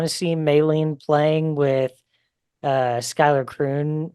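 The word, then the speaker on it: Schuyler: It's Skylar Croom. Although it really looks like Schuler Sky Croom.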